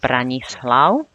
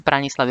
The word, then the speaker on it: Branislav: Now, Renata is quite easy to pronounce, but Branislav, we use Braňo as a shortened form. Branislav is a bit more formal, but it's long because it has 3 syllables in it.